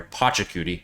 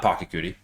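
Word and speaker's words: Pachacuti: Pochakudi, not Pocky.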